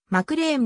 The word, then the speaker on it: McLean: に属しているマクリーンの発音は a の腸を使ってマクレーンのようになりいいの長音のまくり員とは違うイリノイ州出身の